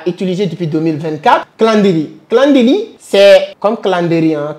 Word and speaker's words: Calendly: Alors, il y a une autre application que je commence à utiliser depuis 2024, Calendly. Calendly, c'est comme Calendly, hein, Calendly, voilà, Calendly. Ça s'écrit, je pense, C-A-L-E-N-D-L-Y.